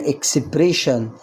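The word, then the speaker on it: expression: برض الاس اي اوي جه قبلها حرف الاس وده حرف ساكن يبقى انطبق عليها القاعده وتنطق شين تبقى الكلمه اكسبريشن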